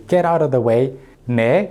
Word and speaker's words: 내: out of the way, 내, usually pronounced as 니, which means you're here, 앞길, path forward, 뺏기다, to have something taken away.